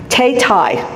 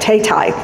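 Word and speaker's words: Thao Thai: this one right now, Tay Tai. That's how she pronounces her name, and I listened to her do an interview this morning to make sure I got that right, Tay Tai.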